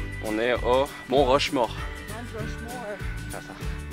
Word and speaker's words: Mount Rushmore: Mount Rushmore. Ah, ça. Bien prononcé, c'est comme ça. Mal prononcé, c'est Mont Rushmore.